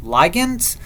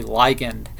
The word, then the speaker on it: ligand: by proteins are called ligands or ligands depending on who you're talking to you they will pronounce it differently the majority people say ligand I say likened and exploiting this binding